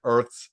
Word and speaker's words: Urth: 7 fearsome creatures with supernatural abilities emerge deep within Earth's crust. Pronounced the exact same, which is even funnier because how would you know? EURTH. No, URTH. Oh, URT. It's Earth. Earth.